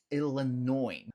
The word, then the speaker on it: Illinois: E logo abaixo dele, temos o estado de Illinois, Illinois. Note que em Illinois a gente não pronuncia o S no final, tá?